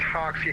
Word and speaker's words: Hoxie: Endeavor 4776, that's Hoxie, Hotel Oscar, X-ray, India Echo.